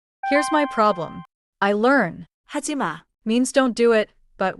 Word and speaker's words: 하지 마: The pattern is say the phrase clearly, then let the last syllable drop a little, not crash down. 첫 번째 표현은 하지 마예요.